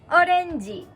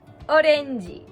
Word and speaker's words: orenji: so how do you say orange in japanese orenji orenji so this is a frisbee on my head in this case you wouldn't say orenji e to describe a word you would say orenjiro no whatever you're describing idol means color in